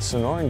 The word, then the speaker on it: Sonoran: norn desert and you said it right the Sonoran Desert Institute you're looking to get your start in Gunsmithing they are the people to go to go and check them out a big thank you to the Sonoran Desert Institute we can't of course forget primary